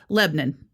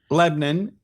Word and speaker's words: Lebanon: Actually, you you over pronounced it for over pronounced it for Tennessee. It's Lebanon. Lebanon and in New Hampshire it's Lebanon and in Maine it's Lebanon.